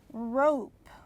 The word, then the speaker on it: rope: cut please cut the rope rope can you hear an e no you can't but the letter o is long because we added an e okay so today's lesson